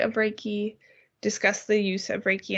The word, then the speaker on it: reiki: some more popularity over the last couple years reiki pronounced reiki is a japanese word for universal life